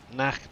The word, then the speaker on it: Nacht: Guten Nicht. Is that right? Nacht. Nacht, is it? Okay. That's probably why I failed my German, so yeah. Nacht, not nicht.